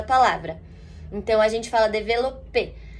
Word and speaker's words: développé: Quando eu tenho um S no final da palavra em francês, eu não pronuncio, esse S é mudo. Então, por isso que eu escrevo développés, né, na verdade, com